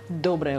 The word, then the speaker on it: доброе: Okay, so, доброе утро. Доброе. Доброе утро. Okay, so the stress goes to the first syllable.